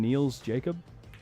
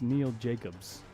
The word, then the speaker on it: Neil Jacobs: by Neil Jacobs wow did you just call him Neil's Jacob I think so it's Neil Jacobs I know okay just